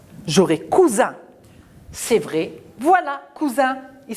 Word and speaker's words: cousin: ce 2 s si j'enlève le s j'aurais cousin c'est vrai voilà cousins ils sont cousins c'est le cousin celui là c'est le cousin de celui là est lui aussi d'accord voilà un cousin alors cousin regardez veut parce que le s il est